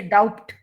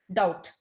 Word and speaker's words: doubt: climb comb limb thumb then again silent bur uh doubt you don't say doubt doubt debt we don't say